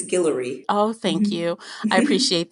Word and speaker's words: Guillory: talking about the wedding date series by Jasmine Gilroy did I pronounce her last name right I know you know right it's I believe it's Guillory oh thank you I appreciate that so before